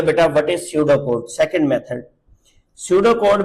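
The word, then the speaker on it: pseudocode: Shadow code कहते हैं। इसमें ये पी साइलेंट है।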